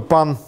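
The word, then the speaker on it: Pin: И, в частности, был француз такой, Пан, пишется P-I-N, ну, P-I-N.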